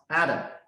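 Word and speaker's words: אדם: So these 3 words pronounced Adam, but also its meaning is man.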